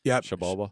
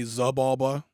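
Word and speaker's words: Xibalba: Shabalba. Shabalba. A lot of people say Zabalba. It is Zabalba, pronounced yeah. Shabalba.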